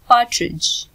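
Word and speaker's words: partridge: तीतर इसे कहेंगे पार्ट्रिज. डी साइलेंट होगा.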